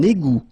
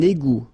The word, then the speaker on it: égout: Un égout. Okay, little link between the two. Un égout. Final T not pronounced. Un égout.